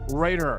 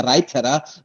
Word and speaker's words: Reiter: correctly is that correct well almost to like every english-speaking person would pronounce it in in the place where i'm coming from it's a raita but i'm used to